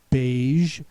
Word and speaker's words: beige: don't have a but just the J sound in it uh the first word is beige beige is kind of